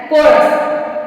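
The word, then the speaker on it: chorus: पे है सी एच ओ आर यू एस कोरस मतलब यहां प भी सीच के बाद में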